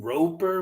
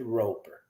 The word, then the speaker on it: Roeper: Michael Roper, maybe?